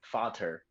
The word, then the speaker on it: Vater: Vater is how you say it in German versus Vader.